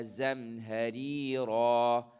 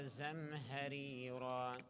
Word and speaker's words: زمهريرا: The 2 ra's here are different in their pronunciations. Why? Because one of them has a kasra, so that ra is light. Ri, ri. And then the next one has a fathatan. So ri, ra. Ri, ra. Okay? So 2 different pronunciations of the ra. One is light, the other is heavy.